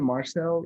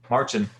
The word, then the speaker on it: Marcin: Marcel, right? Jason? Marcin. What's that? Marcin. I said his name wrong.